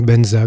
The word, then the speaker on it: Vajra: récite Om Ha Hum Vajra Guru Padma Siddhi Hum. Que les Tibétains prononcent Om Ha Hum Benza Guru Pema Siddhi Hum. Je considère ce mantra comme